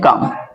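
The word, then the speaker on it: calm: silent है ठीक है सी ए एल एम क मी क्या होता है साइलेंट कॉम तो यहां पर एल हमारा क्या साइलेंट है और भी ऐसे देख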